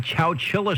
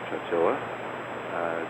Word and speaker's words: Chowchilla: back in the mid-'70s, was it Walter Cronkite who called it Chowchilla, which I suppose is the correct pronunciation if you don't live close by.